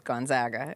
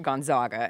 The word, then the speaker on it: Gonzaga: Now most people finally have gotten to the point where they say it correctly, which is Gonzaga and not Gonzaga.